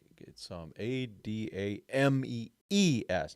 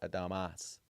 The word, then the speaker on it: Adames: It's Adamees, not Adamas.